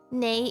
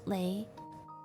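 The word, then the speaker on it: 你: Nei is N-E-I. Nei. But I don't know if people say lei. I mean, people still understand. But the correct way is nei.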